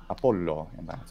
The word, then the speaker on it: Apollo: taken away in Latin such as Apollo Apollo with a long o at the end I can hear that's